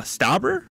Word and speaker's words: Stauber: months ago to be a a backup uh stabber am I saying it right yeah he uh